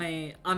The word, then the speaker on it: Ame: And yeah, ame is pronounced like the Japanese word for rain.